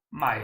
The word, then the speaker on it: mãe: Cioè, madre, mai. Mãe, Mai si pronuncia.